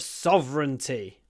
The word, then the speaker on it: sovereign: it's a question of sovereignty who is Sovereign interesting word because we have a lot of letters v e r r e i g n but we say v sovy as if there were no vowels